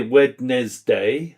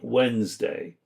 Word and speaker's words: Wednesday: So we do not say Wednesday, we say Wednesday. So we have some silent letters there.